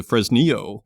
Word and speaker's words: Fresnillo: 1550 for his Neo as Bruce explained the pronunciation to me it is the fresnio company and they have a property in that